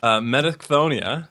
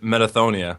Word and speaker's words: Metachthonia: So, it's uh Metaconia is one way to pronounce it. Or you can also just pronounce it Metathonia. The the ch in there. It's kind of optional.